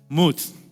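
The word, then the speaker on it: מות: como dice ahí arriba, mut, que se escribe así, no se no sé leer hebreo, amén, pero se dice mut.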